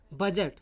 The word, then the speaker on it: budget: तो जी से पहले आया हुआ डी जो है साइलेंट रहता है। जैसे आपका दिया BUDGET, बजट है ना, बजट, बजट मीन्स बजट।